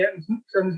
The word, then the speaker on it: Ayrton: years ago about when Ayrton made it into Formula One. He thought he better get his name right, so he asked him, and it's obviously correctly pronounced in Portuguese as Ayrton, and which probably isn't